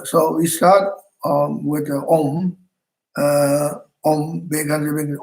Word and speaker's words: Om: So we start with the Om. Om Bekanze, Bekanze. Om is always in the beginning of the mantra. Om. Om is one syllable with three letters. A-U-Ma. So Om. A-U-Ma. Om.